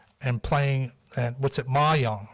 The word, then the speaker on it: mahjong: John of God Church, and enjoys embroidery and playing, and what's it, mahjong, right? Yes, Am I pronouncing it right?